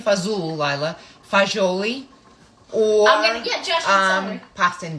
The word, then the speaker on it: fagioli: Lila, you could pronounce it pasta fazool. That's what I call it. I hate saying fazool, Lila. Fagioli.